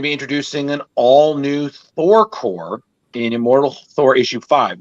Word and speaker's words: Corps: am I saying it right is it core corpse uh core okay cool thank you just make sure um